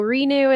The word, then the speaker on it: Renu: So Renu is like a play on renew your body, Right. even though it's spelled RENU.